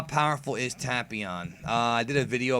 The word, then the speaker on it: Tapion: idea how powerful is tapon uh I did a video about tapon Dragon Ball in Def 21 all about tapion and yeah folks it's tapon not tapon um somebody actually said